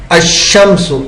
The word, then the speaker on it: الشمس: ال جب ایسے لفظ پر داخل ہو جس کا پہلا حرف شمسی ہے تو ال کا لام حرف شمسی میں مدغم ہو جاتا ہے، یعنی تلفظ کے وقت لام کے بجائے حرف شمسی ہی کا تلفظ ہوتا ہے.